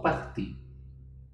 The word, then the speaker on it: partis: Tapi pengucapannya sama karena huruf S di belakang kata tidak pernah dibaca.